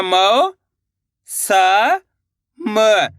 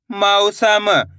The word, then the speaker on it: मौसम: मऊ करके उच्चारण निकालना है आपको, तभी जाके सही से औ की मात्रा का उच्चारण निकलेगा। ऐसे नहीं पढ़ना मौसम। अगर मौसम पढ़ोगे तो ओ की मात्रा का उच्चारण हो जाएगा मौसम। इस तरीके से पढ़ना है मौसम।